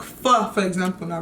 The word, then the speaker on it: pho: When I say pho, I mean pho, but it's pronounced pho, not pho, pho, pho.